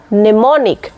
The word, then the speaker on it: mnemonic: बांग नोआ रे दो एम रेना साइलेंट हुयो कना एम दो उच्चारण के बांग उच्चारण कना इंस्टेंट वर्ड हुयो कना नेमोनिक मने मॉनिक दो बांग